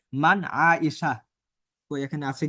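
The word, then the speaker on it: عائشة: তখন আমরা এভাবে বলি যে মান ফারিহা, শেষের গোলতাটা উচ্চারণ হয় না। যেরকম বলা হয় কি, মান আয়েশা।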